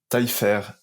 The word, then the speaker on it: Taillefer: Alors, c'est Manon Taillefer. Donc c'est taille et fer, c'est comme tailler le fer, quoi.